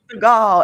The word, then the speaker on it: Stigall: Stigall, like Steven Seagal, but Stigall, Stigall. With a T, yes, Stigall, yes.